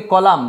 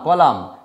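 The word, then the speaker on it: column: এটাকে বলি কলাম, কলাম, এই যে এম আর এন, কলাম।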